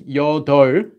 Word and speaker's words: 여덟: Notice this one's called this one's 여덟, not 여덟. Although the P up is there, they don't pronounce the P up.